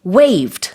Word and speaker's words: waive: You said that the toll fees will be waived. Hello. You're not going to wave to it, are you? No, I'm not W-A-V-E-ing. But the pronunciation sounds like it. Same pronunciation, W-A-I-V-E.